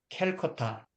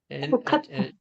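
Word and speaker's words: Kolkata: 11월 인도 항구 도시 캘커타 요즘은 캘커타라는데 콜카타, 옛날에는 캘커타라고 하는데 지금은 아, 콜카타, 그 인도식 발음으로 뭐 콜쿠탄가 뭔가 그런 식으로 발음하죠. 콜카타. 네.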